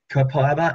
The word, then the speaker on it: copaiba: Copaiba is how we are supposed to pronounce it. Thank you, Claudia. If you're in Australia and you say the Australian word, it's copaiba. You say it through your nose, but that's it.